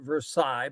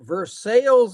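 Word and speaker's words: Versailles: what they call it we pronounce it Versa but they pronounce it verses Indiana and Duke W's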